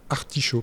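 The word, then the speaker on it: Artishau: d'une équipe qui s'appelle Articho parce qu'en fait on est une équipe de recherche en Bretagne. Alors sauf que Art s'écrit d'une manière bien spécifique A R T I S H A U.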